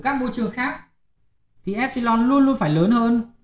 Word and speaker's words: epsilon: Và cái hằng số điện môi ấy, người ta kiểu là E thế này, đọc là epsilon.